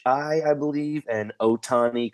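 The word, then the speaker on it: Ohtani: i I believe and Otani kind of like it sounds o-t-a-n-i release yeah cause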